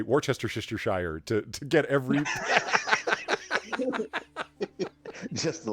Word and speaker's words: Worcestershire: Like that's just, like Worcestershire sauce, Worcestershire.